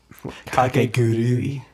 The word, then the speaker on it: Kakegurui: How do you pronounce it? Kakegurui.